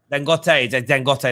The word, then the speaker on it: Dangote: Samuel here says, what about, is it pronounced Dangote? Would you welcome him? Dangote, that's the one.